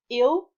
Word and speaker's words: il: Il is he, il, and ils, it's they, so plural. But they're pronounced is exactly the same way, unless there are some